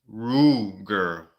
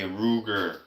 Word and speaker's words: Ruger: Okay, Klingas is saying also it's pronounced Ruger. Ah, okay, Ruger.